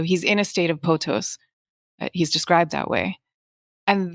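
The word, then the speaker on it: pothos: example the the ancient greeks had this word potos which i may be mispronouncing but it's p-o-t-h-o-s and it basically meant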